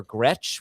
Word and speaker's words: Gretch: Ben is at yards per Gretch, which he thinks rhymes with catch.